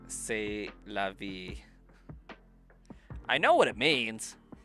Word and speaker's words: c'est la vie: But, like, I read that as sieste la vie. But, like, I know that it's pronounced say.